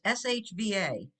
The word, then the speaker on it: shva: So the Schwa, and just remember it's SHVA. If you were to put an E in there, it would make it a totally different word.